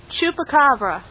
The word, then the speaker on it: Chupacabra: You just got to get this how do you pronounce this thing again? Chupacabra.